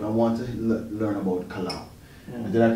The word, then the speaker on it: Kolau: want to learn about Kolau. Yeah. Did I pronounce it correctly? That's right, yeah. Kolau, okay, good. Congratulations, not easy. Yeah? Thank you, thank you. So it's a Hawaiian word.